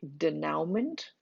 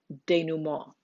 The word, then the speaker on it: denouement: And that leads to the denouement. This word has way too many vowels in it, and it looks like denouement, but it is a French word and it's pronounced denouement.